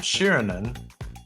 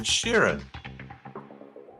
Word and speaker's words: Sheeran: It's not Shirinan. It's Ed Sheeran.